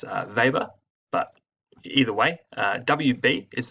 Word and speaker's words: Weber: Now you'll hear it pronounced Weber, but it's actually pronounced Weber.